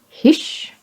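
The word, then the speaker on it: Hysh: Hish is like a snake with its teeth out.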